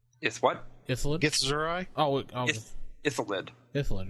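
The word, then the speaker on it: Illithid: Because help me pronounce it. What? Ithalid? Gith Zerai? Ithalid. Ithalid, right?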